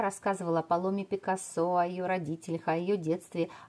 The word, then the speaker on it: Picasso: называть и Пикассо и Пикассо можно и правильно будет И в том и в ином случае потому что у семи Пикассо но я буду называть на французский манер с ударением на последний слог Пикассо испанское и французские корни